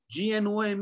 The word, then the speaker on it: gnome: At the start and at the end, GNOME is pronounced as gnome.